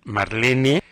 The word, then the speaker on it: Marlene: la autora se llama Marlene se pronuncia marl Marlene brusco com grande r